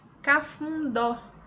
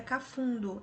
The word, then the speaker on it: cafundó: Cafundó. Cafundó tem acento no O. Ouvi muitos alunos ali no dia da realização das atividades no presencial perguntando que era cafundo. É cafundó.